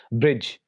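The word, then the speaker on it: bridge: Rule ये है कि डी इज not pronounced in combination D जी, यानी जब भी लेटर डी जी के साथ डी जी कॉम्बिनेशन में आ जाए तो वहां पर लेटर डी साइलेंट होता है।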